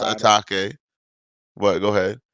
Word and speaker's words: Atake: Atake. What? Go ahead. I thought it was too, but everybody says a take, so it's a take.